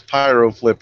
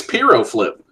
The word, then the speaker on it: Pyro Flip: and that's that that's pyro flip you freaky Delaware e'en I was gonna I was gonna I thought I was saying it wrong the whole time I thought it was Pierrot flip oh that's all right